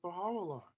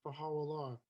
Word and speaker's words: Baha'u'llah: U is pronounced O, the short U is pronounced O in spoken Persian.